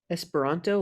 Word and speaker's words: Esperanto: less a heather esper esperanto is that how you say it yeah esperanto like the language yes exactly funny esperanto's